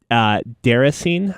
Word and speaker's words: Déraciné: What I'm describing is Deracine, I think is how you pronounce it. It's a French word, if I'm not mistaken.